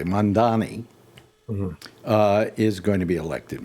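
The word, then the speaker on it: Mamdani: Zoran I'm going to pronounce it correctly, Mondani, is going to be elected mayor of New York.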